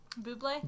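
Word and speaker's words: Bublé: Uh Michael B Bubé.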